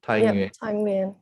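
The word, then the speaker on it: Thái Nguyên: Is if I pronounce it correctly, Isabella is a Thai Nguyen. Thai Nguyen.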